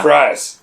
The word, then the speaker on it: Fries: Fries. Fries is his last name.